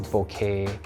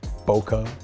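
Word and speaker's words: bokeh: we get very nice bouquet or how Americans pronounce it boka boka is when you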